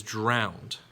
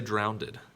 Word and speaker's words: drowned: is that word afterwards it is drowned but oftentimes some people will say drowned but it is drowned